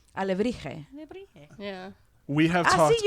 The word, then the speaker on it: alebrije: Alebrije. Yeah. We have talked. See, you knew how to pronounce that word.